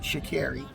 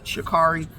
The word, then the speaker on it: Sha'Carri: Her her name is actually pronounced Shakiri. We know it reads Shakari, but hey, she can do what she want to do.